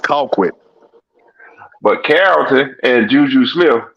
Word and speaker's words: Colquitt: on a neutral field you pronounce conquit wrong Mike no I didn't no I didn't I pronounced it just right Carrollton would like that secondary yeah you're still saying Carrollton but it's pronounced Colquitt but Carrollton and JuJu